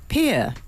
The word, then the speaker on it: Pierre: Pierre to rhyme with beer.